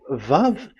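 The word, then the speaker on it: ו: So it's V as in Vogue. So it's really V. How to read Vogue? So the word, the shape Vav is really pronounced V, like Vogue.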